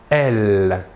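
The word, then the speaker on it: elles: Et le pronom personnel sujet féminin de la troisième personne du pluriel est « elle ». Même chose que pour le masculin, la S finale ne se prononce pas.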